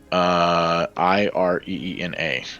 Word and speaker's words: Ireena: How do you spell it? O-R-E-N-A? Ireena, and if I've been saying it wrong the entire time, You know, I wouldn't doubt it.